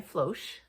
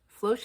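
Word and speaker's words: Floche: And I decided to try Floch. Floch is spelled F L O C H E if you're wondering.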